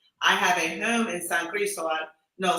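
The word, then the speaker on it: San Cristóbal: I have a home in San Cristobal. No, San Cristobal, Okay.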